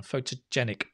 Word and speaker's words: photogenic: photogenic absolutely photogenic yep remember the pronunciation of this one photogenic make that a longer one photogenic well done good 88